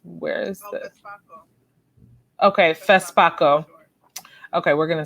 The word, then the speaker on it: FESPACO: and Television Festival of, can you help me pronounce this? Where is this? FESPACO. Okay, FESPACO.